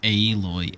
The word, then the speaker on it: Aloy: It's Aloy. Aloy. She was a good woman. Aloy.